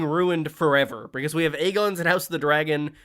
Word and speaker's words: Aegon: They pronounced it Aegon. And then I think it's season five onwards suddenly they started saying Aegon. Season five of Game of Thrones onwards including House of Dragon suddenly Agon. It's like Dragon Lord. So it's like they it's like they were actively told no no make sure you say it Make sure you say it in the worst way possible.